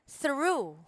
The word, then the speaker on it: through: yes fuel all right through through true true it's it's not it's not so hard if you're gonna pronounce it it's an unvoiced th all right so through